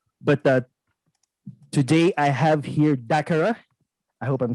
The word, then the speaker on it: DACARA: But today I have here DACARA.